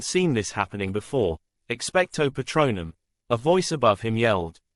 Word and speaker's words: Patronum: The pronunciation had seemed a bit off. Patronum, Lily corrected tiredly.